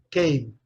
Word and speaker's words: came: Nesse caso aqui, Como a letra E não é pronunciada, termina com o som de M.